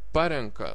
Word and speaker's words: parenka: it has a prefix then the stress is on prefix parenka surenka nurenka aprenka atrenka